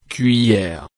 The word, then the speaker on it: cuillère: Prononciation, cuillère.